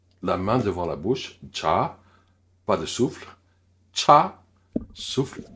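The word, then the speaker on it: 차: Première, c'est cha, qui veut dire soit une voiture ou le thé, selon le contexte, bien sûr. Le ch avec un bon souffle, cha, cha.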